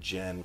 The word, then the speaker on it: Jyn: want you to do was it gin or gin I feel like in the movie they said Jen quite a bit but I think it's spelled jyn our movie lovers I'm